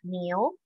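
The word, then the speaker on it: 牛: Niu, niu itu artinya sapi kerbau.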